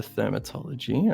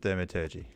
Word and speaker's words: thaumaturgy: Okay, and as for the Thermatology, I just want to see... Sorry, Oh, I'm my not It's going to just say it's very it's- effect based. yeah, It's like okay. prestidigitation. it's pronounced thaumaturgy.